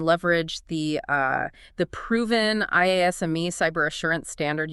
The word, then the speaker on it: IASME: And crucially, we'll be explaining how your organization can leverage the uh the proven IASME cyber assurance standard. You might hear it pronounced I is me as a really practical, efficient roadmap to get that code implemented.